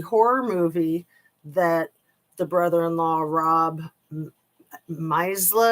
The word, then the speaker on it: Misleh: movie that the brother-in-law, Rob Misla, I think is how you say his name. It's like Misleh.